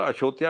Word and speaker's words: अयोध्या: तब वो अयोध्या को उच्चारण उसका थोड़ा अशोध्या अशोध्या ऐसा करते हैं, लेकिन उच्चारण में तो होता ही हर प्रदेश का अपना।